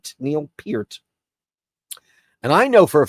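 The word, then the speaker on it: Neil Peart: they were and Neil Pier correct pronunci correct pronunciation Pier Neil Pier and I know for a fact because he corrected me when I was 14 years old I said Mr.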